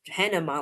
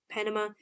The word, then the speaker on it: Panama: I almost pronounced Pan Panama like banana. Okay. Brain fog. Okay. Panama, pajamas, and Bahama. All three different ways of pronouncing those A's.